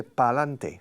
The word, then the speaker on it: pa'lante: But Spanish people say pa'lante, 3. So you Spanish people reduce a word or an expression, 2 words, para adelante. You from 6 syllables, you reduce it to 3.